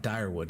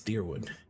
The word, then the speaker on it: Direwood: Because it's not Direwood, it's Deerwood.